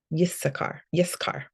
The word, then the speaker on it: Issachar: Issachar, that's a yes sound, yes, Yissachar is really Yissachar.